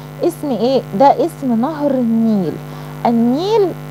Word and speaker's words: النيل: ده اسم نهر النيل. النيل. اللام هنا لام ايه؟ شمسية ولا قمرية؟ لا شمسية. النيل ما نطقتهاش.